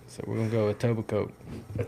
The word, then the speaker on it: Etobicoke: How would you pronounce this? Etobicoke.